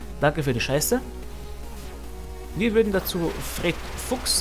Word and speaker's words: Fred Fucks: für die schee zu Fred Fuchs sagen aber der N spricht das Fred Fax aus er istens wegen der englischen pronounciation und zweitens weil der